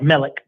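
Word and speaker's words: Malik: That's pronounced Melik.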